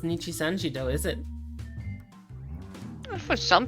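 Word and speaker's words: Nijisanji: Instead of saying Nichi-sanji, he says Ninji-sanji.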